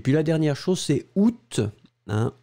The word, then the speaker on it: août: Et puis la dernière chose, c'est août. Hein, août, alors faites attention, août, on va le prononcer en général avec le T final.